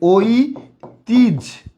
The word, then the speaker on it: ঐতিহ্য: সঠিক উচ্চারণটা হবে ঐ তিজ। ঝকারঝ ঐতিহ্য।